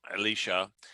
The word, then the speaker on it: Elisha: prophet elisha uh elisha and uh alicia and um i guess if you were gonna say it right but you know we're in texas and everybody knows as elisha and so um i